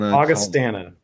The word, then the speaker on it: Augustana: Augustana.